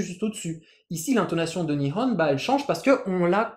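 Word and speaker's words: 日本: Le Japon, Nihon. Ici, uniquement le ho est en haut.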